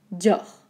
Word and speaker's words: Dior: donc ok d ios ça paraît complexe mais en fait écoutez bien dior dior on va des composés